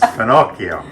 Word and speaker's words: finocchio: And in Italian it's finocchio. Pinocchio, like Pinocchio?